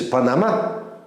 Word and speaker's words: Панама: А Панама или, как говорят здесь, Панама, стави ударение по-другому, это место, где много бабочек.